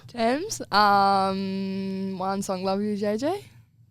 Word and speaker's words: Tems: How do you spell that? TEMS. Yeah. Exactly how it sounds. Thames.